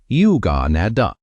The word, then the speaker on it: yuganaddha: The Pali word is yuganaddha. Say it like yuganaddha.